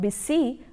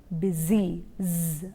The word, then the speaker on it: busy: the sound is deserve similarly busy you have s but it's not busy but it is busy that sir should be